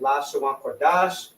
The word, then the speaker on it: Lashawan Qadash: And when it reads Lashawan, so it's la, sha, wan, because the wa and the na are connected.